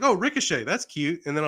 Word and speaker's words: Ricochet: and that is Logan Paul versus rickachit uh Ricochet that's how you pronounce it yeah yeah which for the longest